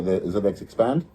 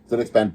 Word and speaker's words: ZXpand: And we have an agreement for the ZedX Expand uh Zed Expand, let me say it properly. ZXPand Plus.